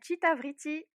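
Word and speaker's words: Cita Vriti: Oui, ça s'appelle Chitavriti. Alors ça Ok.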